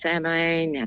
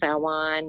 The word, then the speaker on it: Samhain: Happy Samhain, Samhain, however you want to pronounce it. I know the Muggles call it Samhain, so I figured I'd say it that way. But it's actually pronounced Samhain.